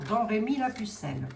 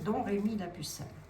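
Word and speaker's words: Domrémy-la-Pucelle: Elle est née à Drémi que l'on prononce d'ailleurs Don Rémi la pucelle pour les personnes qui ne le savent pas ça se peutin.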